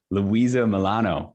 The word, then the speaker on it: Luisa Molano: mention and we have the Magnificent guest today Louisa Milano Louisa hello hello hello I love how you